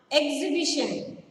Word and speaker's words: exhibition: Fourth one, exhibition. E-X-H-I-B-I-T-I-O-N. Exhibition. The letter H is again silent. So circle letter H.